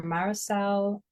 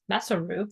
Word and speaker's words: Masaru: Japanese physician he Dr marisel Oto I'm proba saying it wrong Mar m m Masaru there we go masaro Oto and he